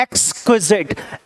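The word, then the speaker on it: exquisite: Once again, ये भी हम इस वर्ड को भी बोलते हैं एक्सक्विजिट. एक्सक्विजिट वर्ड बोलते हैं, इसकी प्रोनाउंसिएशन ध्यान रखिएगा. एक्सक्विजिट.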